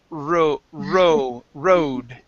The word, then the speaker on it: road: elevator good okay now let's practice an r word here the word is road okay yes good one